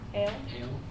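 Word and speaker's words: Eöl: Ale, the elf, the dark elf, Yeah.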